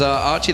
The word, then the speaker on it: Aki: And it's Archie, by the way. It says Aki, but it's pronounced Archie. I've been told, I've been informed by the Taiwanese community, this is the way to pronounce it.